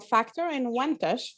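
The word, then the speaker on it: Factor-Inwentash: everyone my name is i'm from factor in wentache faculty of social work that's a long one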